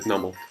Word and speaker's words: Numel: I heard it in the anime, and they said Numel, and I was like, why? And then it's like because it's a numb camel, I think, or something along those lines.